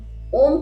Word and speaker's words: ओम: ओम का उच्चारण। एक परफेक्ट तरीके से जिसमें आप ओ से ज्यादा लंबा म के साउंड को देते हैं वो आता है ओम का उच्चारण या फिर मंत्र ले सकते हैं सोहम।